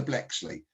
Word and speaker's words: Bleksley: now my surname is very unusual and i'll spell it for you so my website is peter blexley and you spell blexley b l e k